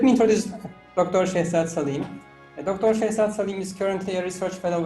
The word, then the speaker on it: Saleem: to my viewers shortly did i pronounce that salim is that correct yes correct but in fact i